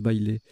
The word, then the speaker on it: bailé: Bailé, B-A-I-L-E, qui est un nom masculin qui se prononce bailé.